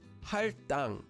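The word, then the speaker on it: 할당: In this example, there's a lil at the bottom of the first syllable, hal, and it's followed by a base consonant, a digut, at the beginning of the syllable, tang. So the base consonant, digut, becomes a double consonant, and the word becomes pronounced as haltang.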